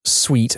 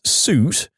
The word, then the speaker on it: suite: She then proceeds to make me say the address again, insisting I pronounce sweet as suit and not allowing me to continue if I say it correctly.